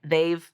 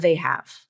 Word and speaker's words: they've: she's not reducing it Dave is how it's pronounced she's not changing any of the vowels there um but I wanted to point that out okay so it's theyve not they have okay so listen back